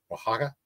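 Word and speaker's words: Oaxaca: down the the the waka waka waka waka waka Mexico o a x a CA I think it's how you pronounce it any there might be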